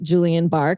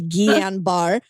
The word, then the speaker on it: Guillain-Barré: Which we had to look up how to say it because I want to call it Julian Barr because it looks like that, but it's Guillain-Barré, which I also had